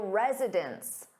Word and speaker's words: residents: But when you have an s on that noun meaning more than one, it sounds exactly the same as residence.